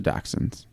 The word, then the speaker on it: dachshunds: was suffering from a spinal problem common to dachshunds.